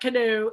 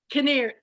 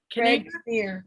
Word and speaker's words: Kinnear: His name's not Canoe, it's Kinnear. Kinnear.